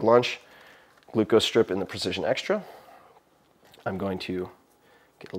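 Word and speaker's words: Precision Xtra: Precision Extra, X-T-R-A, is how you say it.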